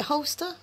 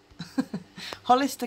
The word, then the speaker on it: Hollister: and it's some holster is it holster Hollister how do you say that Hollister Hollister California that's all I'm